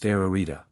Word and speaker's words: Ararita: one triplicate and two repeated this word is pronounced ararita the vowels in the Greek language are also